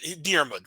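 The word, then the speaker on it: Diarmuid: Irish pronunciation, Diarmid.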